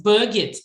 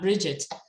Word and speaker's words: Birgit: It's Birgit, not Bridget.